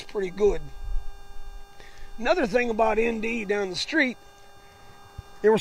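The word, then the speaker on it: Endee: Down the road a piece is a little town, a ghost town of ND. And it was named after the ND Ranch. And it's spelled E-N-D-E-E.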